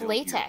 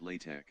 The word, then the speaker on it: latex: anybody pronounce it latch yeah it is late it's latex but it is possible maybe in certain regions they might pronounce it like latch I haven't heard it but I just know there's a lot of regional dialects of English but the standards like I would bet money it's latex oh you're saying for